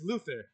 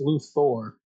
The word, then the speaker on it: Luthor: Look, I chose Lex Luthther. I went a little bit easy. I didn't want to choose King. Remember, it's pronounced Lu Thor.